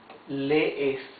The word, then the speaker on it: lee: Now look, you can see there, these are double E's. Double E's, you pronounce them. It's not a long E. It's, you make like a stop. Lee, okay? Él lee. Yes? As if you try to pronounce two E's together. Lee. Or nosotros leemos. You see, you pronounce both E's.